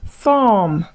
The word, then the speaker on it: thumb: So when words end with M and B, focus on the M, ignore the B.